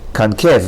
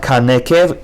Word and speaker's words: concave: Concave, not kanekev, concave. Shva under nun is silent.